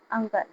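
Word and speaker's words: uncle: अंकल। ठीक है? यहां पर इ का जो है कोई साउंड नहीं आ रहा है। इसे अंकल ही पढ़ेंगे।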